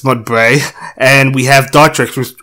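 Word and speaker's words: Mudbray: muds Bray mud Bray I almost said muds Dale but it's mud Bray and we have dart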